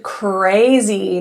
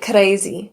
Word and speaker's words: crazy: Now this has an R blend. This means that there are two consonants together which makes it the blend and one happens to be an R. This is very difficult for especially those who do a natural trill. So it might sound like crazy k because the tongue tip is going right to the alvear ridge.